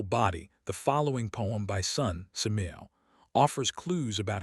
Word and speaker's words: Su: The 6 sounds are Su, pronounced like SHH with a deep sigh which is associated with the liver.